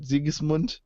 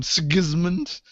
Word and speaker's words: Sigismund: me insane is that we're talking about the imperial fists and about ziggs mund yeah they're calling him sigismund which is probably how he pronounced it in english but that's yeah kind